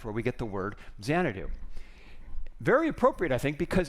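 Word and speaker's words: Xanadu: in case you're wondering zanadu was the English way of pronouncing changu which was the place in China where KublaCon had this Palace so that's where we get the word zanadu very appropriate I think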